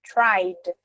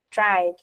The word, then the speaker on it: tried: E no passado ele é tri, não tem esse som do E. Tá vendo? Tried. Tried. Esse é não tem som.